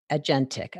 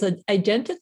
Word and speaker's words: agentic: But the other side of that is, you say here, you said, however, it's actually agentic, I guess is how you pronounce it.